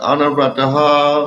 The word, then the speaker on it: anuvrataha: No, it's anuvrataha. Huh? Not a nu. I know I said that the first time, but it's not right. It's anuvrataha. Anuvrataha. First syllable is stressed. Short syllables. The third syllable is stressed, yes? No, The first letter. no, Anuvrataha. nothing stressed. Anuvrataha. Anuvrataha. They're all short.